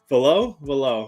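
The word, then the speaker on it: Velus: I call him. I think it's Velo. And more importantly, he's taking care of the ball more. Valaire. So it's Valaire. But it's spelled Velo. Like I know how it's spelled. I'm telling you how it's pronounced. It's Valaire. That's not how it's pronounced. Unless every announcer of the game is saying it wrong, that's how they say it is Valaire.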